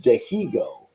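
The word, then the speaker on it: Dihigo: eternal baseball this guy martine that's pronounced de hego is fantastic uh and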